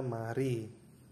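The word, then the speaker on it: 말이: dalam penulisan ini ada ditulis Mal I tetap tapi dalam pembacaan dalam hukum baca dalam bahasa Korea itu dibaca mari ya Mari dibacanya Mari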